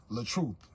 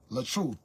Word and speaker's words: LaTruth: the artist side you guys know me as L truth L truth l a t r u t some people